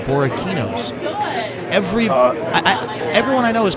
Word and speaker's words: Borrachini's: Well, Or Kini, but we didn't know that C was the hard C as opposed to It's a hard C.